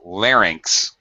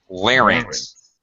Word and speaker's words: larynx: wow there we go that's better larynx larynx two syllables larynx uh okay ainx a